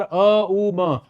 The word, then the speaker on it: ओम: आप ओम मंत्र का उच्चारण करते हैं तो आप 5 मिनट लगातार अ उ म का ऐसे उच्चारण कर सकते हैं।